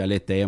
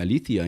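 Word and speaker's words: ἀλήθεια: o que o pessoal chama de aleteia mas o certo a pronúncia alía em grego a alía que é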